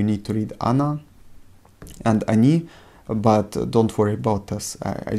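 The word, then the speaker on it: они: we already talked about this is how to pronounce Ana and Ani can you hear how I pronounce Ana and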